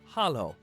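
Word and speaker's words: Halló: daughter like Anderson 13 hello in Icelandic is pronounced Hollow thank you is talk yes is yah no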